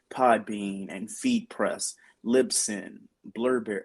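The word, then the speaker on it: Blubrry: and feed press libson blurberry oh was it like blueberry it's spelled be uh b u b r r y you have Amazon you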